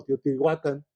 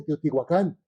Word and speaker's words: Teotihuacán: dice tenostitlan o tenostitlan Cómo se dice Teotihuacán o tihuacan se dice Teotihuacán porque lleva acento Ah lleva ya es